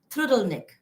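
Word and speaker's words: trdelník: chimney bread dessert that's called trudel Nick apparently that's how it's supposed to be to be pronounced so I did manage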